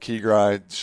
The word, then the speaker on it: keGri: more came up with keygrid sure enough man domain name was available got the ig handle key guy official yeah right yeah dude it's two syllables it's that two syllables yeah no doubt no